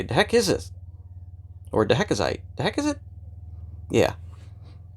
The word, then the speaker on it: Dahecasite: Some people pronounce it, the heck is it? Because you pick this up and you look at it and you say, the heck is this? Or Dahecasite.